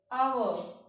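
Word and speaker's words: hour: इसी तरह से अगर एच के बाद ओ आ जाए तो एच साइलेंट हो जाता है। Honest, आवर, ऑनर, honorary.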